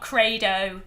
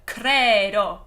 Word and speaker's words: credo: And the o is going to be a bright Italian o instead of do. Not credo, but credo. Okay?